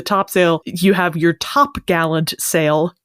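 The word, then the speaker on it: topgallant: sale you have your top Gallant sale typically pronounced tar gel toel toel it adds an R because apparently it could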